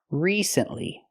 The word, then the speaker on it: recently: that we say recently we have to use a long e sound like green beans re recently not recently not the